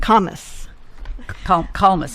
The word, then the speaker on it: Kalmus: Kalmus. Kalmus. Peter Kalmus. He says Thomas with a K.